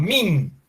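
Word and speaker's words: mean: que se llama la función min bueno así se lee pero se escribe m n min media en la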